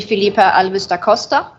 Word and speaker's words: Felipe Alves da Costa: okay thank you uh pronunciation was perfect yes my name is felipe de costa uh it sounds exactly the same so thank you for